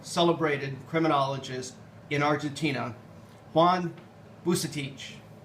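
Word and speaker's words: Vucetich: Here we see a photograph of a well-known, celebrated criminologist in Argentina, Juan Bucetich. Now, it's a Croatian name that has become pronounced by way of Spanish and Argentine, local Argentine accents.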